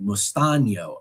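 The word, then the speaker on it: mesteño: And I was able to teach the kids mustaño, tell them it's spelled like mustano, except the N has that little squiggly line over it. Of course, the cedilla, mustaño.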